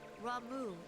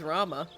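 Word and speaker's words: Ramuh: Clarion in its intensity ramu is returned unto the forest oh that's how you pronounce it is it ramu I always said it was Rama welp scares had his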